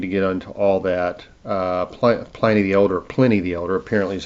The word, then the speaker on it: Pliny: Pliny the Elder, apparently is how you pronounce it.